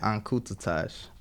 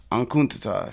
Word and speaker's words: Enkutatash: Your stories, and how do you pronounce the album that you say you got? ENKUTATASH. ENKUTATASH.